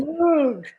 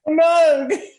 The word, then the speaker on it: Moog: How do you pronounce it? Moog. No, the other one. Moog. Moog.